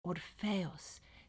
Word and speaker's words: Orpheus: Wait, let's pronounce their names correctly. Orpheus and Eurydice.